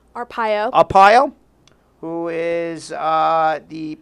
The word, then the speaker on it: Arpaio: had promised the pardon Sheriff Joe Arpaio my pronouncing that right Arpaio a pile who is the poster boy for